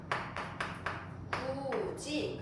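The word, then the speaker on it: 굳이: 그래서 만약에 구지 같은 경우도 똑같아. 발음을 먼저 해 보는 거야. 발음을 해봤더니 어떻게 돼? 구지가 되잖아.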